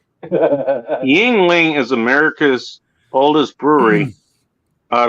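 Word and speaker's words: Yuengling: ling is spell is it looks like youngling is pronounced yingling um and also the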